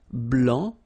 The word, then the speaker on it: blanc: form here okay so here masculine BL don't pronounce the final C and then blanch okay